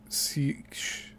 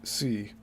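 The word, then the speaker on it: seiche: there also exist other very destructive and unusual SE waves this word is spelled SEI CH usually the product of underwater landslides caused by the pulling apart of a fault in the Earth's crust The Siege waves smaller in height are not as Sensational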